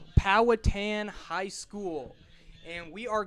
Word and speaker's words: Powhatan: Powatan High School. Powatan High School.